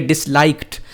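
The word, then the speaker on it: disliked: And they डिसलाइक्ड, यहाँ मैं आपको बताता चलूँ, ये लिखने में तो डी लिखा हुआ है ना, डिसलाइक्ड, लेकिन इसको पढ़ना टी है.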